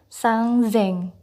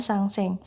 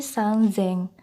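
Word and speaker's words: 三千: 3.000 sangzeng, bukan sangseng, tapi sangzeng.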